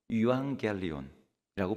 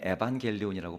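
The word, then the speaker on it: εὐαγγέλιον: 여러분 복음이라고 번역된이 단어는 원래 그리스어로 유앙겔리온이라고 불리는 단어입니다 영어로는 에반겔리온이라고 발음하는데이 바울이 사전 시대에 유앙겔리온이라는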